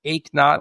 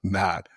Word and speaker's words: Eknauth: So, it's achot like no pain. So, if you did not work out this morning, you ache not. Oh, I love it. Achot.